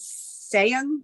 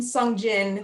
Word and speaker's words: Song Jin: sending out mailings uh sean did i say that right oh that i think you mean song jin he's still he's okay